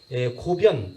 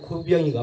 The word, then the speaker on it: 고변: 시를 잘 쓰고 그러니까 고변 또는 발음을 고병이라고 하는데 그 막하에 들어가서 종사관으로 들어갑니다. 황소나를 고병이가 마치 토벌하러 나갑니다.